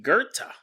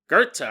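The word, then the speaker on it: Goethe: that episode Jonathan said his name is actually Gerta Gerta I was mispronouncing it and he wasn't just an email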